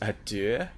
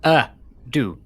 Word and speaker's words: ado: Adieu? Why do I sound adieu. like a... Why do I it's sound... not adieu, it's not French, it's without further ado, as in A space do, D-O.